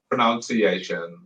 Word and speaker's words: pronunciation: But what you were saying wrong is this the C sound.